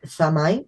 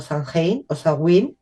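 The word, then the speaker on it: Samhain: para nosotros que es samay o sang dependiendo de cómo cómo lo pronuncies que estaría en torno al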